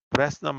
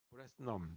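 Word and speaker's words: Bresenham: 브레스넘. H는 묵음인가 봐요.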